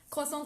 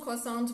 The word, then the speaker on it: croissant: see the letter and as an english speaker we tend to pronounce the s at the end of the word or etc but there's